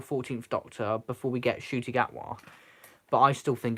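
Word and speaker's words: Ncuti Gatwa: his name now I I kept saying it nakuti gwata because I had never heard of his name before but it's shooting atwa and it seems easier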